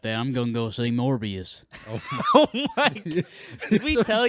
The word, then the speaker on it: Morbius: There's a guy in our shop, and he loves Morbius. He was head over heels for And Morbius. you know what? He even pronounced it wrong, like Mobius.